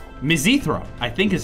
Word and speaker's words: mizithra: and it's like like cheese on it not Mithra it's mizithra mizithra I think is how you're supposed to pronounce it it's like if it was weird